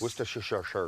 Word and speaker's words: Worcestershire: I say Worcester sauce like the Worcester town. sauce, yes. Worcestershire.